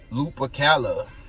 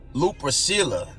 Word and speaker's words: Lupercalia: The holiday of Valentine's Day probably derives its origin from the ancient Roman feast of Lupercalia.